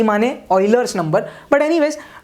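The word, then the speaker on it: Euler: अपन क्या बोलते हैं, ऑयलर्स नंबर, प्रोनाउंसिएशन इंपॉर्टेंट है, ऑयलर्स बोलते हैं इसको, ये ऑयलर्स नंबर है,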